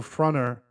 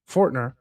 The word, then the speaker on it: Fortner: This screen here of Michael Fronter, or Fortner, I keep saying his name wrong for some reason, Fortner, where he gives this this presentation on his book, pretty much, The Black Silent Majority.